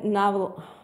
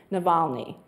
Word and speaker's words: Navalny: The next one is Alexei Naval. I've been saying his name, and I wanted to, there's an extra Kyrie. Alexei is how you say his first name, Navalny.